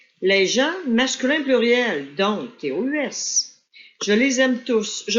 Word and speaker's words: tous: Autrement dit, avec le mot qui suit, sauf s'il remplace et que tu dois prononcer le son S.